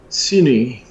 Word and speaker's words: Sydney: ride straight back to cine that's how Australians pronounce the largest city we're going down to